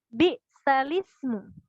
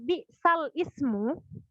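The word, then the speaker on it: بئس الاسم: Cara bacanya bi'salismu. Itu kan jadi yang berubah itu adalah pelafalannya, teman-teman. Jadi bukan hurufnya, pelafalannya yang berubah. Asalnya di sana adalah bi'sal ismu, tapi dibaca bi'salismu.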